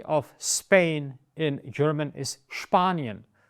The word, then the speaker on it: Spanien: And the country of Spain in German is Spanien. It's not Spanien. Sounds very, very childish and weird. It's der Sport, das Spiel, und Spanien. The letter CH, or the